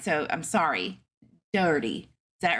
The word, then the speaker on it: Daugherty: Terry I'm gonna say Daughtry because I just know that if I try to say it either way other than that I'm gonna mess up so um I apologize if I if I don't say it right but Daughtry's where it's at like the band thank you Brooke I'm